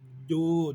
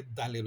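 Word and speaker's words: ضُ: হবে যেটা যে আমার ডো জিহ্বার গোড়া থেকে ডের উচ্চারণ জিহ্বার আগে থেকে দালের উচ্চারণ আমরা ডদের জায়গায় দাল বলবো না ডু এর জায়গায় দু বলবো না ঠিক আছে গেল এটা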